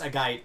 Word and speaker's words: Agate: So It's actually pronounced Agate, but I'm just going to call it Agate because I'm from the south. I mean, also a guide is stupid. It's supposed to, like, rhyme with the word maggot, like the grub.